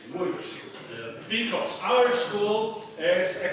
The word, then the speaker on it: Łódź: It's not pronounced Lodz, it's Łódź.